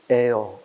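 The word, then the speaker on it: heir: air. 그제? 또, 상이나 명예가 뭐야? honor. 그제? 이 단어들은 형태는 또 뭐야? 자음이지. 근데 발음상 H 발음이 안 되지 않나? 이건 묵음이라 그러지.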